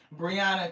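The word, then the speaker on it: Breonna: Briana Taylor, thank you because I know I wasn't saying it right.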